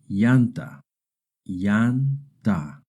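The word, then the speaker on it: llanta: Remember two L's together make a Y sound like the Y in English. Yanta yanta.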